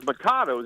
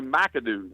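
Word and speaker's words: Macado's: is a cool place we thought it was it was makato it's spelled m a o do oos I thought it was makato but it's actually macadoo macadoo right here in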